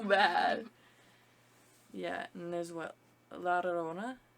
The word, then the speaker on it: La Llorona: Yeah, and there's what, La Llorona? How do you say that? La Llorona.